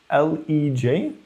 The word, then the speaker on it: L3J: It should be names L3J for Lego 3000 Jigsaw bot, and it can be pronounced as LEJ.